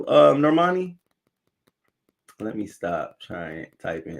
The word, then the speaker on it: Normani: cultural clash says wait is norma d is that how you pronounce it normandy is off the 101 in la and they have norman normandy drive um it's normani with no d hey doctor on site